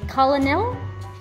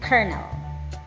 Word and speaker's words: colonel: last word to try did you say Colonel No it's kel kel how How many correct